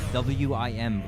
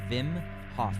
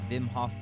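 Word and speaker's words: Wim Hof: check out vim hock wim like whim but it's pronounced vim hof hof vimhoff guided breathing give that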